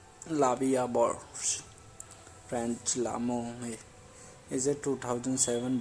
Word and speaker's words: La Vie en Rose: La Vie en Rose, literally life in prank, French pronunciation La Vie à Bord, French L'amour, is a